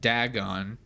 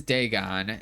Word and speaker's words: Dagon: Throughout the video I pronounce it Dagon. So yeah, but it is Dagon and it is very interesting.